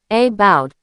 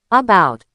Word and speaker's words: about: the first syllable of about or the last syllable of sofa. Many learners try to pronounce every vowel exactly as it's written. They say about with a strong a. But natives just say about.